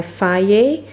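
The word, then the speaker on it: Fage: so this is by fire it's pronounced different that's it's spelled differently how it's pronounced but you pronounce it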